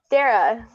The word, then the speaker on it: Darragh: Darragh.